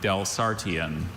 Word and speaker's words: Delsartean: Are there any alternate pronunciations? There's just the one, Delsartean.